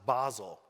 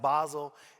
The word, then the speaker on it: Boswell: About 2.5 years ago, I heard about a printing press, a Republican printing press in Boswell, Indiana, pronounced Basel. Because the place was pronounced Basel, and I'm an art